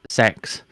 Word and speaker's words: CeX: look up CeX and yes it is it is pronounced sex um because and they